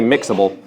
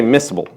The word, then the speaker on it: miscible: miss Kabul I'm sorry no you don't say mixable you say missable I said it backwards some people want to say mixable no it's miscible that's how you spell